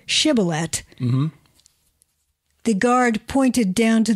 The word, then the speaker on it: Shibboleth: When he said no, they said to him, "Then say Shibboleth." And when he said Sibboleth, for he could not pronounce it right, they seized him and slaughtered him at the fords of the Jordan.